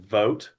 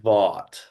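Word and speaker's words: Vought: Like the T is silent. Well, over the last three days, I've heard his name a lot and it's and they keep saying vote.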